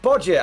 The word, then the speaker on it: Bodja: It's pronounced Bodja, and I'm Ukrainian. Hey, Bodja, thank you so much for the support, man.